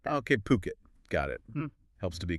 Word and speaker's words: Phuket: It's puket p or st just on the poo, not uh not fuket or anything like that. Okay, puket.